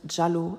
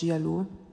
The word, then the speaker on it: Jialu: Am besten erinnere ich euch nochmal alle daran, dass Gazelle und ihr angeblicher Partner Jialu, es wird eigentlich Jalu ausgesprochen statt Jialu, do we care?